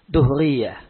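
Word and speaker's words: دهرية: Bacanya, dalnya di dhamma. Ya. Duhriyah.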